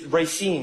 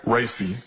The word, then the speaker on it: Racy: It's Racine, right? Racy. Racy, okay. I know how it's spelled, I just don't know how it's Racine is in Wisconsin.